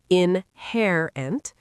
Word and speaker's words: inherent: Inherent stresses the second syllable, inherent.